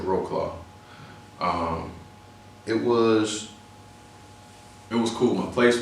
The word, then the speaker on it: Wrocław: The first year though, I was in a nice city in Wrocław, or Americans would pronounce it Wrocław.